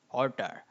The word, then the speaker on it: hauteur: তাহলে আমাদের প্রথম শব্দটা হচ্ছে, এই শব্দের উচ্চারণ একটু কঠিন, অর্টার।